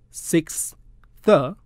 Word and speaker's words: sixth: slowly model the separate sounds cursor and the six the six the and then put them together again